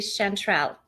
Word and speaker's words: Shantrell: here I want to ask though am I pronouncing your name correctly chantrell oh somebody most people don't get it righty